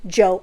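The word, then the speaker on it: Djo: Which, bitch, I never even knew it was just pronounced as Joe. I thought it was like D-Joe or some shit like that.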